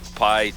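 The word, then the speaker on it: Piyghe: it's it's p-i-y-g-h-e right it's just pronounced pie all right hey this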